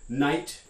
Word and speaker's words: knight: so some examples here knight right spelled with an initial k-n and then this i-g-h-t ending that is somehow supposed to sound like it um the word tough